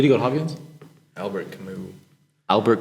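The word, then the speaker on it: Camus: not Hopkins did he go to Hopkins Albert kamu Albert kamu it's spelled c m us it's um no he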